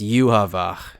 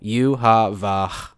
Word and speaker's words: Yhwach: how do you pronounce yuav there I just did it for you it's super simple yuav but Mac in the official English dub they call him UAB Baha and yeah you